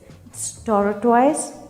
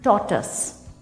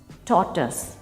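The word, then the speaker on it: tortoise: टॉर्टोइज, नो. टॉर्टस, टॉर्टस.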